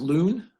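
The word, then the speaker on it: Luhn: Pronounced loon? Okay, a loon check digit?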